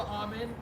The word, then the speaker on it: Auman: We have with us Melissa Auman. Is that how you pronounce it? Yes. Melissa Auman.